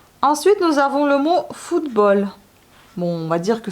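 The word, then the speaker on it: футбол: Ensuite, nous avons le mot football. Bon, on va dire que c'est le mot étranger quand même. Donc, ça s'écrit pareil, comme ça se lit pareil que ça se dit. Football. Foot, F-U-T, B-O-L. Football.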